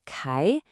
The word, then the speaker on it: 刻: The first character is pronounced kai.